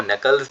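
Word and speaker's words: knuckles: दिखाएगा फिंगर्स नहीं आपको नकल्स बोलना है जहां पे के आपका साइलेंट है नॉलेज में भी के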